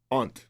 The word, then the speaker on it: aunt: I have an aunt, you have to say it right, aunt. You know, my accent, sometimes people think aunt. You know those little crawly things?